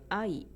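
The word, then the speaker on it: 愛: Sakura it's Sakura or love in Japanese is AI these are two letters A and E so they are spoken in two beads AI so English I is one zero but I in our mind is two syllables or two Beats when you sing English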